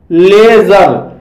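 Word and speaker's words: leisure: लेजर, लेजर शब्द में भी ई आई का उच्चारण ए हुआ है और इसलिए इसे लेजर पढ़ा जाता है, इसलिए इसे लेजर पढ़ा जाता है और लेजर मीन्स होता है फुर्सत।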